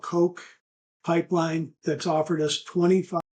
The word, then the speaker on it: Koch: of this, I have a little company called Coke Pipeline that's offered us $25 million of equity and have offered us the use of their 55,000 miles of right of way. Yeah, this little company, Koch, is spelled Koch, AOCH, known which as Koch